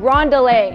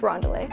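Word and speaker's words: Rondelé: name i cannot pronounce ron ron delay that's right sounds like on delay but it's wrong delay so we're gonna use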